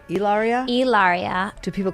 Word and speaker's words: Hilaria: Hilaria.